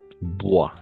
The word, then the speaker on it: bois: Así, regla general, en francés, OI siempre va a ser gua. No importa dónde está, etcétera. OI, gua.